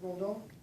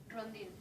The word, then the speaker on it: Rondon: Is it Rondon? Rondin.